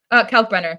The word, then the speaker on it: Kalkbrenner: Kalkbrenner, yeah.